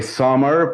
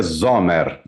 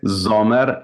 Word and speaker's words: Sommer: Eu falei Sommer porque em inglês é Summer, mas a pronúncia é Zomer. A pronúncia é Zomer.